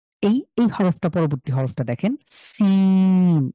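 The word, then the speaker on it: سين: হরফটা পরবর্তী হরফটা দেখেন সিন ইংলিশে যে এস আছে না এস ঠিক সেম আপনি এভাবে উচ্চারণ করেন জীবটা নিচের দাঁতের সাথে লাগিয়ে সিন সিন সিন এটা খুব স্বাভাবিকভাবে ইংলিশের এস এর মতন আচ্ছা হরফের ভিডিও লিংকটা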